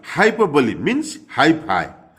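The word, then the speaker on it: hyperbole: हाइपरबोली Hindi में अतिशयोक्ति, और उसका उनका प्रोनाउंसिएशन देख लिए, हाइपरबोली।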